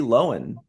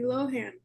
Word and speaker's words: Lohan: to say it yeah Lindsay loenen I think that's like the Irish way of saying it yeah I suppose yeah Lindsay so I wonder how she pronounces her actual last name that's a good question thank you let's think about that saw her on Ellen she called her Lindsay Lohan okay well I believe